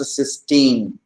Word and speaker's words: cysteine: amino acid with the free thiol group is pronounced cysteine and this disulfide form is pronounced as strain